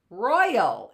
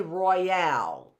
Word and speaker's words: royal: says oi Roy royal royal it's Royal we don't say Royale we say Royal right Royale would have an